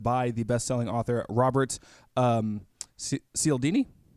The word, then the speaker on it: Cialdini: Social proof is a phrase and a term that was originally created by the best-selling author Robert Cialdini. Was that how you pronounce his name? Cialdini, but you're good.